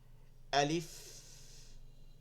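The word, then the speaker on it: ألف: আলিফ, দেখছেন শেষে আইসা এখানটা লাগতেছে ফায়ের উচ্চারণ। আলিফ, টানা যাবে না, আলিফ বা আলিফ এরকম বলা যাবে না। আলিফ, আলিফ, আলিফ, আলিফ, আলিফ, শেষে একটা বাতাস বের হচ্ছে।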